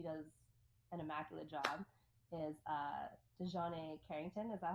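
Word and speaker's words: DiJonai: Is Dejanay Carrington? Is that how you say her first name? Dejanay. Yeah, Mm-hmm. Dejanay. Wow, butchered.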